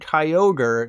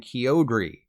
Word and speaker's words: Kyogre: But just in case you've lived your entire life believing the TV show, they are officially called Groudon and Kyogre, not Groudon and Kyogre.